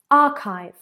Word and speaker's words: archive: Number 5, archive, archive. Pay attention there. We know that that CH sound can be quite challenging. Is it a ch or is it a k?